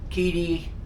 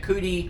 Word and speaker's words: QIDI: Some people say it Kidi, some people say it Kudi, I don't know. I try to pronounce it Kidi.